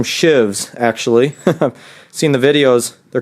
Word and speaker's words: sheave: today these pulley came these are called sheaves and they pronounce them Shives actually seen the videos